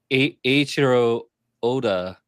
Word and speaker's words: Eiichiro Oda: So, Eiichiro Oda. That's how we would pronounce his name in this case.